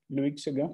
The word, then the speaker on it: Loïc Séguin: But this is Loïc Séguin. Is my pronunciation good, Thomas? Loïc Séguin.